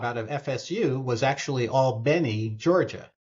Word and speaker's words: Albany: of FSU was actually Al Benny Georgia not Albany but Al Benny which is how they pronounce it and that was uh